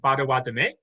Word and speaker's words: Bodéwadmi: There's been a movement toward pronouncing it Potawatomi, which is closer to what it would actually be in the language.